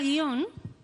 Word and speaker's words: guion: Sí todos nosotros eh en España guion se se pronuncia como una palabra bisílaba vale de manera que nosotros en España pronunciamos así gui on bueno así y por